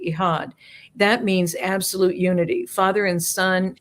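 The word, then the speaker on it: Echad: E C H A D, but it's pronounced Eihad. I just was corrected the end of March uh at an event in Florida. Um because you don't pronounce the C just like the hala bread starts with a C.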